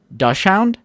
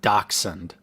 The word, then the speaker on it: dachshund: Dachshund? I didn't say dachshund. I said dachshund. No, he's saying it's pronounced dachshund.